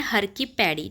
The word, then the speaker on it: हर की पैड़ी: यहाँ पर हर की पैड़ी बोला जाता है, तो इसका जो है प्रोनाउंसिएशन सही करना है, हर की पैड़ी।